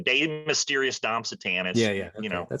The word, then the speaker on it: De Mysteriis Dom Sathanas: me if I'm wrong, De Mysteriis Dom Sathanas? Did I say that right? Something like that, yeah. Something like that. De Mysteriis Dom Sathanas, yeah. Okay. I just say it like an American.